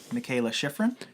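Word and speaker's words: Mikaela Shiffrin: Michaela Schifrin? Yes, that was actually perfect. I think that's how you pronounce it.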